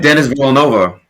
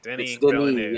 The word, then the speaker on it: Denis Villeneuve: Everybody I've listened to said I said Dennis Villanova. Everybody I listened to said Denny this week. So Denis Villeneuve. Yeah, if you're French, it's Denis.